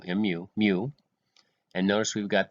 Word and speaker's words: mu: they kind of explain it but that is pronounced mu mu mu and notice we've got the sigma there